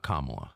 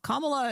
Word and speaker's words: Kamala: Not Kamala. Not Kamala. Kamala is actually how Indians pronounce it.